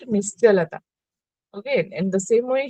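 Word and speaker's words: निश्चलता: Here, Cha will be pronounced, but it is written according to the Sanskrit meaning, it is C is written, but you have to pronounce it Nischalata.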